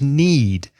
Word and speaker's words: knead: need to yeah because the next word is need exactly the same pronunciation but the spelling is K n e a d what does that mean